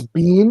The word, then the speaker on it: Biehn: We say Michael Biehn in the UK, but I've heard people say Michael Biehn. I think it's Bean is the way I've been.